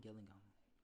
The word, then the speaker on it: Gillingham: rochester so i think it's a uh raynham gillingham gilligan yeah it has to be a gillingham